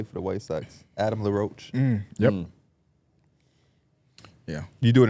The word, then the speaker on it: La Roche-Posay: How you say it? La Roche. That's how I would say it too. La Roche-Posay.